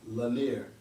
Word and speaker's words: Lanier: won't be going to and they say it's pronounced lanier la mir la nier la la nier linea